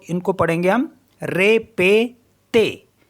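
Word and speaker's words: répétez: इनको भी एही पढ़ेंगे तो इनको पढ़ेंगे हम रे पे ते रे पते मीस होता है रिपीट रे पते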